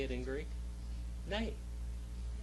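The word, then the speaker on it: ναί: say it in greek nay just remember nay in english means no but in greek it means yes name all right name all right so when you say nay you're really saying yay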